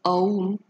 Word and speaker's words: Om: So the word om, pronounced as aum, is an ancient Sanskrit intonation made up of three Sanskrit letters A, U and Ma, which when combined together makes the sound Aum or Om, which signifies fullness, as